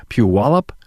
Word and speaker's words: Puyallup: rod Stefan's from the Stefan's law firm in Puyallup Washington hey rod hey how are you doing